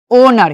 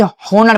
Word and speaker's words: honour: ठीक है, जैसे HONOUR, इसे क्या पढ़ेंगे, ओनर। क्या पढ़ेंगे इसे, ओनर, नहीं कि होनर पढ़ेंगे।